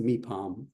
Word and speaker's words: Mipham: letters, but it's pronounced Mipham. Um We we when we see a P in English, we say we put a little puff of breath after the P, right?